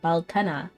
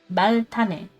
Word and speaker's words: Baltane: Is it pronounced Baltane or is it like Baltana? Tane. Baltane.